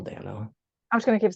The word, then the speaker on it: Dano: first time okay so have I been pronouncing Paul Dano wrong is it Dano it's Paul Daniel yeah right piano I've been saying Dino for for years I think I think it's Paul Dano I was gonna keep